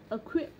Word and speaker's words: acquit: Acquit. Chả biết sao khi mà kiểu mình phát âm từ như này acquit đúng không, thì